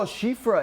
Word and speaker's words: Shifra: Shifra is how she says to say her name. Oh, Shifra.